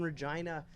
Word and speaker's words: Regina: Well, nearby Regina there, and you talk about Regina, the city that rhymes with fun.